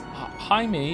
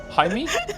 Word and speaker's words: Jaime: Jaime is pronounced in like the hide in Hideyoshi, but with an M. Jaime?